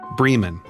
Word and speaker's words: Bremen: Vienna Cairo not Cairo it's pronounced a distinctly southern way Bremen in this case clothing